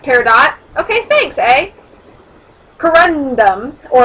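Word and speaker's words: peridot: to the Earth's surface by lava I'm probably mispronouncing everything and I apologize it's paradot okay thanks a corundum or aluminum oxide is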